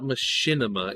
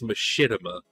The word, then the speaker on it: machinima: It's not machinima, it's machinima.